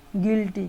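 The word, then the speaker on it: guilty: স্বরধ্বনি অথবা ভাওয়াল না থাকে, তাহলে UI এর উচ্চারণ হয় ইউ এর মতো। যেমন GUI LTY গিল্টি, গিল্টি হচ্ছে অপরাধী বা দোষী।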